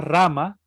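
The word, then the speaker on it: Rāma: entonces como dice acá las que tienen un guión superpuesto arriba de la de la vocal se alarga un poco la pronunciación por ejemplo la en vez de decir a solamente se alarga como a por ejemplo la palabra rama la palabra rama en realidad se escribe r con un guión arriba la primera m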